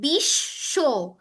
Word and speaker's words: বিশ্ব: আত্মীয় বফলা মফলার ক্ষেত্রে যে যেমন বফলাতেও দেখো এই যে বিশ্ব, এখানে তালব্যশটা দুইবার উচ্চারণ হচ্ছে না?